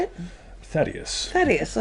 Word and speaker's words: Thaddeus: for thaddeus tony how do you say it thaddeus that is i said it right gotham yo